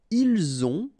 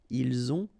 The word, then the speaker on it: ont: the two, vous avez, ils ont, okay, final T not pronounced, and then we make the liaison, ils ont, elles ont.